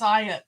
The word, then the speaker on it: Hayat: Her name is Hayat, which is pronounced Ayat, which is a part of the Quran.